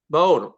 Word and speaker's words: Maud: Mode. Okay, what do I do? I get it wrong every time. It's the French way. It's MODE is how Mode. we pronounce it.